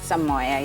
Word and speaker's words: Soumoya: I pronounced your name properly? Soumoya, yes.